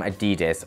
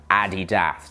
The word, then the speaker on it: Adidas: Next up is this new release from Adidas, or Adidas, depending on how you say it.